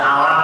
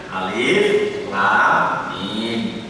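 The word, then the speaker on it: الم: Tulisannya alif, lam, dan mim, bacanya per huruf, tidak alam tadi, tapi bacanya alif, lam, mim.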